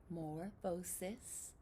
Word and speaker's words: metamorphosis: Did you say metamorphosis? 5 syllables. Metamorphosis. You got it.